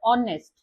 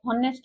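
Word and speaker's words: honest: तो एठी जेहेतु आपण जदि देखिबे एठी एच रो स्टार्ट हेची, किंतु प्रोनाउंस होची कोन एटा American English ऑनेस्ट। Okay, हॉनेस्ट नुह, एटा ऑनेस्ट।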